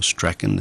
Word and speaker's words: Strachan: It's another wonderful sponsor in Strawn, or Strachan as some people pronounce it, depending on which part of the world. We like to say Strawn in Australia.